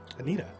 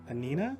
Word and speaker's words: Anina: a story actually um anita oh what anina i said it wrong anina anina there's no t there's no g my apologies oh it's